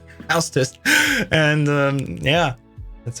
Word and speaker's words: Hau5test: I'm like, just like the English would have house. It's the same. Hau5test.